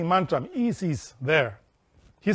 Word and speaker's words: Is: is vocalized like this e remember that the I is pronounced like a double e like in tree prolonging a syaban sound